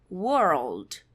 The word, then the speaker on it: world: World, presta atenção na pronúncia, é horrível fazer essa pronúncia. World. World. Porque a gente faz aquele R que eu mostrei agora há pouco com a língua branca. E aí, logo depois desse R, a gente engata um som de L.